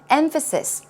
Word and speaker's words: emphasis: Emphasis. Stress goes right there.